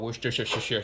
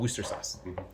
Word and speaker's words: Worcester sauce: When I was in England, they said that you don't say Worcestershire or Worcestershire. It's called Worcester sauce.